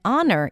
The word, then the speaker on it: honor: And then honor, even though it's spelled with an H, we pronounce it without an H.